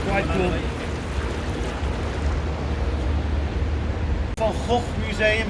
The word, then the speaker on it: van Gogh: Van Gogh Museum. Yes, we pronounce his name as Vincent van Gogh.